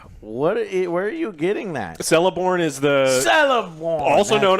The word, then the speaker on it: Celeborn: And they say Celeborn, which I guess is a common mistake. The C in Tolkien's Elven languages, I think, is supposed to be pronounced as a hard C or a K, at least at the beginning of words or names.